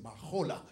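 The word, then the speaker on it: מחולה: en hébreu, et puis ça c'est un H aspiré. Donc il prononce Mahola.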